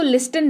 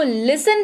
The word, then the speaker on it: listen: देने की जरूरत है, इसकी स्पेलिंग होती है LISTEN, लेकिन इसको लिस्टन नहीं पढ़ते हैं, ठीक है, आप भी मत पढ़िएगा, लिस्टन नहीं, इसको लिसन पढ़ते हैं, टी यहां पर होते हैं भाई साहब साइलेंट, राइट।